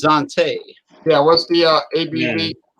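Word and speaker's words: Xanté: n t e with an apostrophe or z i guess is pronounced dante yeah what's the uh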